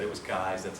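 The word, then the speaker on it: Keyes: Um, I have to say Ken Kais because I was corrected once. I used to say keys. Someone that knew him said it was Kais.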